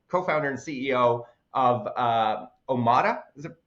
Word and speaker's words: Omada: and CEO or co-founder and CEO of uh omada is it pronounced that's correct yep you got it omada